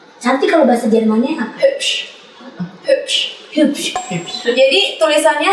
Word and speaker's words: hübsch: Kalau sebuah kata A, I, U, E, O Iya. ada titik 2-nya, Iya. bayangin ada tambahan E. Jadi kalau U pakai titik 2 itu Berarti- ada E-nya.